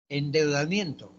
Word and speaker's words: endeudamiento: Endeudamiento, endeudamiento. ¿Cuántas sílabas tiene endeudamiento? ¿Cinco? 5, claro. Endeudamiento. ¿Ya qué palabra es de endeudamiento? ¿Se tilda o se tilda? No, porque es grave terminada en vocal.